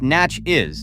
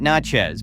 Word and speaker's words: Natchez: Pronounced Natch-is, not Natchez, because saying it wrong is the fastest way to get outed as a tourist.